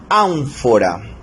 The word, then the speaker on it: ánfora: Por ejemplo, aquí tenemos la palabra ánfora. Ánfora es una palabra esdrújula, lleva la mayor fuerza de voz en la antepenúltima sílaba, en an, ¿verdad?